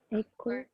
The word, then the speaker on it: echo: The CH is making what sound in echo? K. It's a K, yeah. Yeah. And how about, so see if you can find, just by that, there's two words in Old English that should be in Greek there, because they're the CH making the K sound.